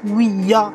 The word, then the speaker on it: Ouija: que voulez dire donc planche oui ja ouia si on prononce correctement c'était censé en donnant